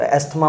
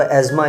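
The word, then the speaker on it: asthma: हूँ by birth, यानी आप इसको एस्थमा पढ़ते होते हैं, तो एज़मा इसकी रियल प्रोनाउंसिएशन है, दमा उर्दू के अंदर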